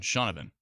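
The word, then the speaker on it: Shaunavon: Shawna Vin it uh just looking at the spelling of it it's there's a v-o-n but I guess it's pronounced Vin shaunavin Sean Ivan shaunavin yes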